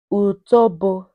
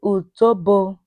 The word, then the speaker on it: utobo: Utobo. Say utobo.